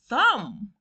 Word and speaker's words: thumb: Thumb. Ekigalo. The B silent.